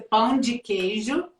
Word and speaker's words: pão de queijo: So help me say it correctly. It's a pão de queijo.